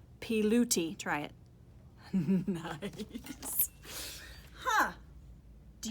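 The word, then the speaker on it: Pilutti: says pronounced p and that's a bag of money so that's loot and that's a cup of tea pee looty try it nice huh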